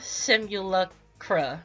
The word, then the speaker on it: Simulacra: Okay, I need to pronounce this correctly. Aqua Simulacra.